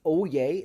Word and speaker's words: Oyez: This is pronounced Oyez.